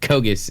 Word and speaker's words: Kogass: Okay, you can pronounce it Kogass if you're not a big fan of the big ASS at the end of it.